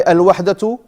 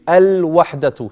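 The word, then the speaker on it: الْوَحْدَةُ: Al-wahdatu. Say. Why do we pronounce the lam here? Al-wahdatu. No shadda on the letter after the lam.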